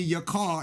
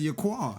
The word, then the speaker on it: Yaqar: Because people be calling me your car instead of your quar.